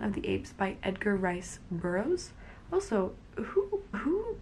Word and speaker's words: Rice: The next book that I read was Tarzan of the Apes by Edgar Rice Burroughs. Also, who names like a middle name Rice? Is it supposed to be pronounced Reese?